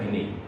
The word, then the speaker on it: Binet: Tulisannya Alfred Binet tapi bacanya Alfred Binet.